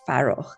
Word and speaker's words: Farokh: background like FAROKH, and that's the correct pronunciation of his name in Persian.